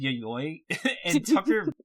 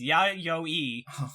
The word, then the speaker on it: Yayoi: is how you said yayoi our pronunciation guy very explicitly sent us a message saying do not pronounce it like that it is ya yo e and i even wrote